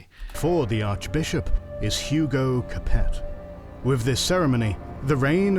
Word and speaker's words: Capet: Think in France it's probably pronounced Cape with some interruptions until the 19th century.